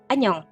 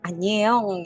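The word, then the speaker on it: 안녕: tuh ya Anyong gitu Tapi itu dibacanya o aja Anyong bukan Anyeong gitu ya Anyong nah kemudian huruf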